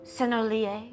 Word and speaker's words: Sennelier: Apparently also I've been pronouncing Sennelier wrong, some of the paints that I have, the French brand. It's Sennelier or something like that, so the more you know.